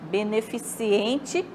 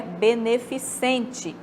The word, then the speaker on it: beneficente: aí nós temos também a palavra beneficente beneficiente é o incorreto Qual o correto é beneficente palavra cabeleireiro em vez